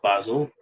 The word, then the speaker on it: Basil: and the series following Basil Seal, or Basil Seal, as the British would pronounce it, Basil, and are worth reading